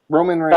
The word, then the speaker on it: Roman Reigns: Reigns Ramone Reigns how do you say it Roman Reigns uh yeah I saw that dude on um